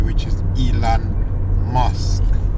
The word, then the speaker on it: Elon: this video and there's a reason why I pronounce his name Elan m in the first video and now in this video we're going to provide pronounce his name correctly which is Elon MK m is Mass information Mass controlling the